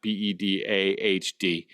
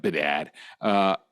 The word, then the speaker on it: Bedard: That's Bedard, not Bedahd, like some of you guys pronounce Bedard.